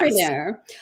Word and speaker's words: mompreneur: Tiffany Hamilton, who I'm going to call a mompreneur. Is that how you would pronounce it? A Yes. mompreneur.